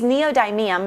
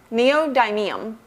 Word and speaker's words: neodymium: They use neodymium magnets to deliver excellent sound.